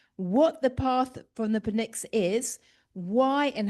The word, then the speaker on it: Pnyx: Um, and it's a path from the Pnyx. Not quite sure how to pronounce that, but p n y x. You got it right. Okay, Pnyx.